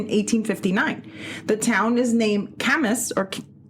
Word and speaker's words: Camas: But anyway, we are going to Camas, así se llama. Camas, como quemas, así se escribe.